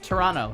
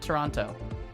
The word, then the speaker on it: Toronto: after several years that it's Toronto, not Toronto. They don't like. I always thought it was Toronto. They really don't want you to pronounce that second. They want you to soften up on that second T.